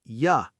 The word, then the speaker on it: you: Yes, in casual everyday speech, the word you almost always turns into a short relaxed ya sound at the end of sentences.